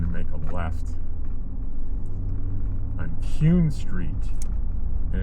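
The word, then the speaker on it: Kuhn: We're going to make a left on Cune Street. and it's spelled uh k uh hnun street.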